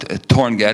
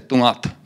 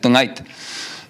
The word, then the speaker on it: Torngat: And well, it's not Torngat, it's Tungat. And but the letters are pronounced differently, and a combination of letters. And it's not Torngats, it's Tungait. So Tungat, Tungait, not Torngat, Torngats.